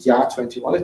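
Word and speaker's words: JA21: called jga21 which is that's pronounced ya21 it means yes 21 which is a split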